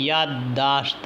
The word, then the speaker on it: یادداشت: وہ غلط ہے۔ اس طرح یادداشت ہم لکھتے ہیں، یادداشت نہیں یادداشت ہے، یعنی یاد الگ اور داشت الگ۔ نماز یعنی اصل میں